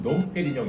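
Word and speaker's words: Dom Pérignon: 이거 같은 경우에도 이제 저도 가끔 들어보면은 놈으로 발음하시는 분들이 많은데 얘 같은 경우에도 놈이 아니라 프랑스로는 농이 들어가는 순간 프랑스에서 이제 웅 발음이 되는게 맞기 때문에 빼용 요렇게 발음하시는게 올바른 발음이죠.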